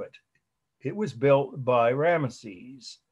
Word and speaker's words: Ramesses: It was built by Ramesses. I always pronounce the way I've always heard it, Ramses.